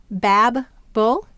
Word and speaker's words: babble: Bab-bull. Here you hear a short A sound and you'll notice that there's two B's in this word.